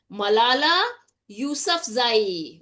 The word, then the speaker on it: Malala Yousafzai: First of all, get the pronunciation correct, my dear students. Malala Yousafzai.